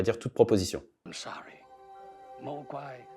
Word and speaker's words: mogwai: Alors, voilà, le mogwai, donc là, le mot est prononcé mogwai, beaucoup de responsabilités, et en plus, au moment où il dit ça, il bascule vers du rouge.